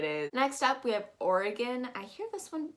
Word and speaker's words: Oregon: variation of that and you're actually not going to be pronouncing this like oregano which is the spice that you put on pizza but you're actually going to pronounce this as aureken or again and that g-o-n turns into a g-i-n instead of polygon which